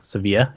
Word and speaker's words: Sevilla: remember I'm from Seville I think it's pronounced seevilla Sevilla yeah at least that's the soccer team pronounced yeah that that's how